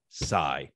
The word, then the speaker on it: Psy: And of course, the South Korean artist best known for Gangnam Style, Psy. Okay. Good night, everybody. Glaring omission, Hoch. You get back here. You left out the best silent P probably ever, in my opinion.